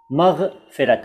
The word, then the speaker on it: मग़फ़िरत: अब देखिए, मग़फ़िरत दो तरह से लिखा है मैंने, ये दोनों ही तरीके सही हैं, लेकिन ज़्यादातर चलता है ऊपर वाला, यानी पूरा ग और उसके नीचे नुक्ता और फ के नीचे नुक्ता, मग़फ़िरत।